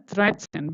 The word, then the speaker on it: dreizehn: But we read it as Dreizehn, not Dreizehn, okay? It is read as Dreizehn because T and S, this is T and S, right?